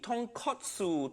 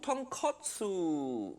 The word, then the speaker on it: tonkotsu: that completely different thing say it properly tonkotsu tonkotsu i've already started a